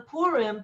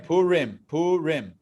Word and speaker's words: Purim: Now, if you wanted to be technical, it's Purim. Yeah. But everyone says Purim because, I don't know, people speak just kind of, more quickly. So, but it's Purim. Really, it's Purim. If you want to really pronounce it the way it's supposed to be. But people say Purim, but it's close enough.